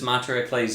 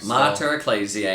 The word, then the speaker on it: Mater Ecclesiae: that today's feast is Monterey clays yeah yeah oklet's EAC I even said it wrong mutter ecclesiae I had to practice